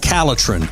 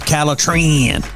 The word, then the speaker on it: Calitrin: If you want to sleep better and lose weight, then the product that you need is called Calitrin, or you can pronounce it Calitrin.